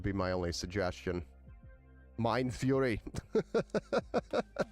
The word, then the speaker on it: Fury: So, my go-to has been because of the price the uh uh Kingston furry kit. Fury. I keep saying furry. It's the fury kit.